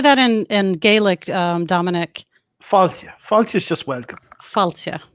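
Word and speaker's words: fáilte: Faltia.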